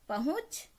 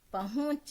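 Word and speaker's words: पहुँच: पहुंच, पहुंच, यहाँ पे चंद्रबिंदी होगी, क्योंकि हम इसको नाक से प्रोनाउंस कर रहे हैं।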